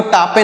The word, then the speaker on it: tape: जैसे टी से पढ़ेंगे ट और ए का उच्चारण ए होगा, पी से पढ़ेंगे प, टेप, इसे पढ़ेंगे टेप। इसे आपको टापे नहीं पढ़ना है, टेप पढ़ना है।